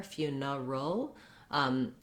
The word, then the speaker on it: funeral: The idea is anytime there's an R in the middle, I have to go into the R and back out of the R. So trying building from that R, neural, is going to really help you get that difficult combination for funeral that you have to do the and then the dark L as well.